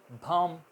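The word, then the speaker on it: bomb: आपको बताई थी भा, तो हम इसको भाम कहेंगे, भाम, BOM, भाम, यहाँ तक बोलेंगे, बी साइलेंट रहेगा, बम नहीं कहना।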